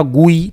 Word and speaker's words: GUI: और इसको सबसे पहले प्रोनाउंस्ड किया जाता था गुई, ठीक है, गुई, ठीक है, गुई गुई गुई, ठीक है, इसके नाम से ऐसे पुकारा जाता था इसे।